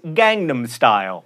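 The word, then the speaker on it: Gangnam Style: Meredith tells me and speaking of memes it's Gangnum Style by Sai which Meredith will now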